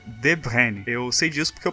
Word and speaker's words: De Bruyne: Então, se a gente fosse pensar em como a gente pronuncia o sobrenome dele de acordo com o lugar que ele vem, seria De Bruyne.